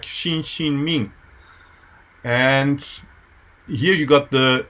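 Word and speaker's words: Xinxin Ming: old Chinese text uh Japanese reading is shinjin me I think in Chinese your pronounce it something like Xin Xin Ming and here you got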